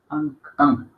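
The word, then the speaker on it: अं: Ang. No te vayas a anga, no. A. Ang. Ang. Es A-N. Esto es, la pronunciación es A-N, pero gutural.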